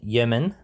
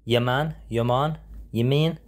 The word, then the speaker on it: Yeoman: Now, on today's podcast, we have Yeoman. Oh, I've already said it wrong. Yeoman.